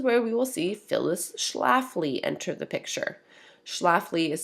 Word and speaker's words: Schlafly: And this is where we will see Phyllis Schlafly enter the picture. Schlafly is spelled Schlafy.